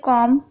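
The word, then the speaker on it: comb: इसी तरीके से कॉम, यहाँ पर भी देखिए एम पहले आ रहा है उसके बाद बी है, यानी बी से पहले एम है, यहाँ पर साइलेंट है।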